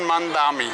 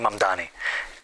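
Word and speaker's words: Mamdani: I'm running against a man named Zoran Mandami. He's a socialist. If you can respond to that and tell us how you say it, your full name. Zaharanwaame Mamani.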